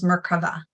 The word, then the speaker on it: Merkava: Some people call it Merkaba or Merkava. I like to pronounce it the Hebrew name, which is Merkava.